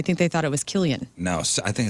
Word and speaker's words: Cillian: We are looking at how to pronounce, yes, it is to be pronounced Killian, Oh, not Killian. Cillian or anything else. Rather, Killian.